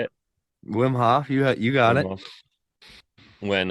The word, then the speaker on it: Wim Hof: of like the rapid breathing is that the Wim Hall how do you say it Wim Hof you you got it when uh I did